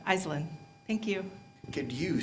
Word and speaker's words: Aislinn: She said, it's Aislinn. Aislinn. Thank you. Could you spell that for me for the book?